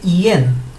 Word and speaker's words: ian: Esta se escribe IAN, pero fonéticamente no se dice como lo vemos, se dice IN. Parece como si realmente estuviéramos diciendo una E.